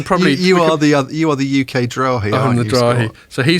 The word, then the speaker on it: Drahi: oligarch Master of the Universe types called Patrick Drahi. Or Drahi. How would you pronounce that in French? Drahi. Drahi.